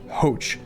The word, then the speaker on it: Hoch: And Hoch, Hoch is how it's actually pronounced.